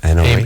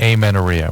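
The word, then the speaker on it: amenorrhea: Anoria. Amenorhea which means period. She didn't say that then. She said she's pretty mispronounced.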